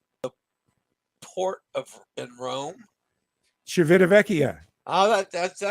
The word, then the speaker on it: Civitavecchia: How did you pronounce the port in Rome? Civitavecchia.